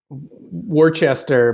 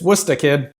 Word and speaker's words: Worcester: s t e r which you would think would be like Worchester but no it's it's it's it's it's wora kid so um I shout